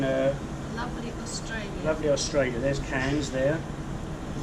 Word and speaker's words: Cairns: There's Cairns there. I'm pronouncing it properly.